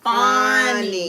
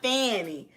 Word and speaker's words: Fawny: Her name is pronounced Fawny, not Fanny.